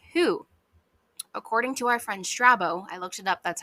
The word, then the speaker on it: Strabo: philosophers and researchers who according to our friend strabo I looked it up that's how you say